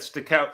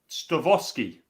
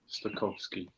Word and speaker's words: Stokowski: Oh, I've said stick out. It's Stowowski. W's in Polish are pronounced as V. There we go. Dabai. Stokowski.